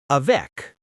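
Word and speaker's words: avec: When a word ends in one of these, you usually pronounce it. Let's practice. For C, a vec with you hear the C sound.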